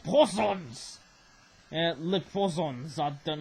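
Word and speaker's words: poisson: don't know i believe poisons mean fish i believe it sounds like poison but it's poisons and that's how french people say the word fish i believe right but uh it rhymes with croissants actually looks very very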